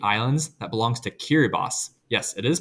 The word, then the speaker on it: Kiribati: This is a group of about 8 islands that belongs to Kiribati. Yes, it is pronounced that way.